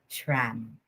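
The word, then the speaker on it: Schramm: shrams interactive model so you pronounce this tram okay this model is proposed by wilbur's uh scram or sram in 1954 okay this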